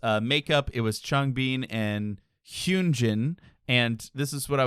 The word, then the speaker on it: Hyunjin: I was like, I'm gonna go find a video that's like, what's the pronunciation? It is Hyunjin.